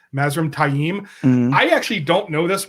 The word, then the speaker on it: Mazrim Taim: Mazrim Taim. It is Taim. It is Taim. My strategy kind of worked because it got Steve to say it wrong. Thanks. Yeah, you're welcome. This is still one that he's always going to be Mazrim Tame. It's Mazrim Tame. It's just Taim.